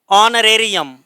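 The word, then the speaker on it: honorarium: ऑनरेरियम, तो ठीक है, ओ, एच साइलेंट है वो से पहले।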